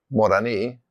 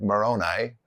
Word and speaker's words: Moroni: of the Comoros Islands is spelled Moroni, Moroni, but we would say it Moroni, which is also a really important person in the Book of Mormon.